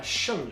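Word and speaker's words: 剩女: I don't know wait how do you say it in Chinese uh shungu right yeah shungu yeah literally left also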